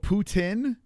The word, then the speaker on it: poutine: So, it is poutine, but French pronounce it differently.